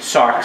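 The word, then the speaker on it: sarx: your life the flesh how do you say flesh in Greek sarks everybody say socks s-a-r-x you gotta decide to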